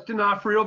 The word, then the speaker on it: Donofrio: Did I pronounce that right, Steve? Donofrio? Yeah, it's Donofrio, but we'll take it.